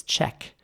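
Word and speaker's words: cheque: So let's start with British English. The spelling here is S-H-E-Q-U-E. So it's check.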